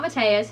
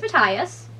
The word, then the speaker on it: Matthias: i was saying matthias his name is not mathias his name is his name is matthias thank you shadow and bone tv show for